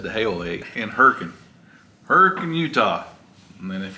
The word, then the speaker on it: Hurricane: or his valerie just said the hailey in herkin hurricane utah and then if you're from anywhere else it would be pronounced hurricane so um it's hurricane there it's hurricane in